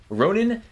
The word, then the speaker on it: Ronin: to a ship called Ronin Tati. Did I pronounce that right, Kaboom? Yeah. Yeah, like the Japanese sword.